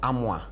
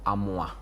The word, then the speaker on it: Amwa: Yes, so it's not Amwa. It's pronounced Amwa.